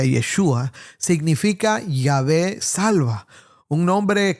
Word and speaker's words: Yeshua: Jesús, que en hebreo se pronuncia Yeshua, significa Yahvé salva, un nombre cargado de esperanza para Israel.